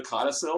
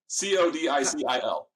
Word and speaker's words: codicil: So I love I love the codicil. There's my big Scrabble word for the day. It's a big 5-syllable word, or I guess it's just 3 syllables, but it's a big important word.